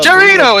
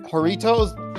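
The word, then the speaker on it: Jarritos: The chorito is how I pronounce that. Yeah, choritos. No, it's a J. The J is a H. But yeah, Horritos.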